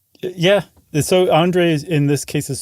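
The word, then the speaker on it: André: She met a guy named how would you pronounce that? It's Andre. Oh, it is? Andre Kowarski.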